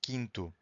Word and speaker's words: quinto: If you have Q-U-I, the U is also silent. Quinto.